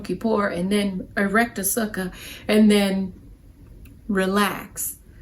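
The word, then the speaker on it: sukkah: and then erect a sucker and then relax Suka sounds like Sookie when I say it right never mind that the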